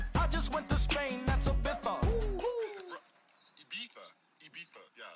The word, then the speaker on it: Ibiza: I just went to Spain, that's a biffa. Ibiza. Yeah, it's pronounced Ibiza, actually.